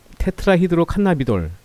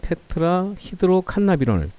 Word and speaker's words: 테트라히드로칸나비놀: 대마초에 두 가지 주요 성분이 있는데 중독성을 가지고 있는 테트라히드로칸나비돌, 발음하기 어렵죠. 테트라히드로칸나비놀 THC라고 합니다.